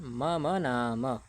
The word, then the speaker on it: मम नाम: ठीक, बस उच्चारण का आपको ध्यान रखना है, मम नाम। ठीक है, यहाँ हलंत मकार नहीं है, यहाँ भी हलंत मकार नहीं है, तो इनका उच्चारण नहीं करना।